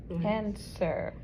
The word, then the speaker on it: answer: and Answer. answer Answer is a sight word because that W is silent.